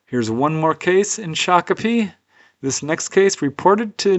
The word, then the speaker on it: Shakopee: There are definitely some cases in Shakopee. Did not know that's how you pronounce that city, but I looked it up